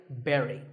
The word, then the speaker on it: bury: I was really surprised because I used to say bury. I mean, it looks like that, right? But this word sounds just like the berry in strawberry. So once again, bury.